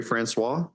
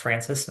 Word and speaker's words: Francois: All right, Francois. Yep. Uh it's actually pronounced Francis.